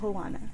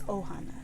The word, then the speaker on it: Ohana: It's not Hohana. It's Ohana.